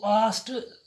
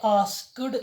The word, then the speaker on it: asked: Every sentence, तो वो आस्ट लिखने से भी बोलने से भी आप पास हो जाओगे। This is more acceptable in modern English. आस्ट, ASKED, मैंने आस्क्ड नहीं कहा, इसकी करेक्ट प्रोनाउंसिएशन है आस्ट। ही आस्ट मी।